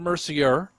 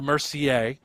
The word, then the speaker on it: Mercier: It's Jason Mercier and Isabelle Mercier. Spellings are the same, although you do say the names differently.